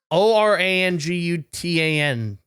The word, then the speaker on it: orangutan: type of animal he is how do you spell that o r a n g u t an right is that right or there's there G